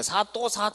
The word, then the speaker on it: 사도: 그러므로 이제 얘네 수령이라고 그러고, 이제 사도인데 발음상 사람들은 이제 사또 이렇게 불렀던 거죠.